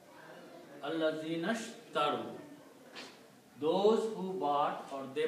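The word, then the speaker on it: الذين اشتروا: So you do not pronounce this alif in the middle. You pronounce Allazinashtaru. Allazinashtaru.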